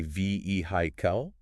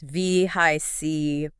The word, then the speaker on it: vehicle: Now, I've heard people say vehicle, but something about that doesn't sound quite right. You have a good ear. It's not vehicle, it's V-high-C. V-H-I-C. So the emphasis is on the second syllable.